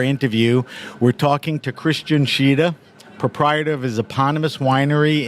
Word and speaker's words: Tschida: All right, so Christian Tschida, that's how you pronounce it, right?